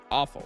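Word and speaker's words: offal: Awful. Awful. You literally pronounce it like you know the term or like the Bellatro streamer just without the R. The R is silent.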